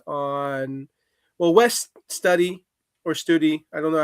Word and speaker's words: Studi: It was just definitely very heavily focused on well, West Study or Study, I don't know how you say his name. Yeah, I think it's a long U.